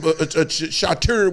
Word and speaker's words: charcuterie: Put out some charcuterie. What do you call it? Charcuterie? No, it's a charcuterie. What? What? We grew up in the hood. We don't know. With the cheese shit. That charcuterie board.